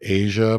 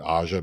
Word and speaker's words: Aja: And I And then think we learned that really it should have been Asia, but people kept pronouncing it Aja because of her incorrect spelling, so she just kept it.